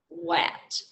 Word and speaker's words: what: part of the word you would probably expect this letter to be pronounced but it's pronounced uh and i'm going to